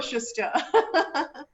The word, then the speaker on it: Schuster: Also, his first book, In the Company of Strangers, was published by Simon and Schuster. Is that how you pronounce it, Awais? Yes, absolutely. Schuster, because I was like Schuster or Schuster.